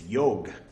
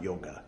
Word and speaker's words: yoga: welcome or Naga Kanya for those who pronounce the A's at the end of Sanskrit Words which you're not supposed to do it's yog not yoga isn't that weird um